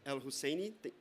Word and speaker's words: El Husseini: El Husseini, did I pronounce that correctly? El Husseini, thank you, Executive Director of Global Compact Network in Egypt.